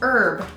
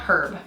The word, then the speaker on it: herb: came into English and that's why we don't pronounce the h's in those words either unless you guys do